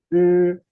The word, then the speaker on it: 日: 日 You just push the tip of your tongue to the roof of the mouth. Okay. 日 Yes, when you pronounce this one, you will feel there is like a slight vibration.